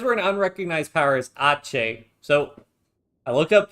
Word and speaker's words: Aceh: So because we're an unrecognized power as Aceh, so I looked up pronunciation. The website says, the internet says it's pronounced Aceh, so that's what I'm saying until somebody in chat tells me otherwise.